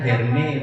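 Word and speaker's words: Hermès: Itu bacanya Hermes mestinya.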